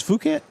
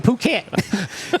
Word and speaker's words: Phuket: Well, spell it. Phukket. Phuket. Yeah, Phuket. No, it's Phuket.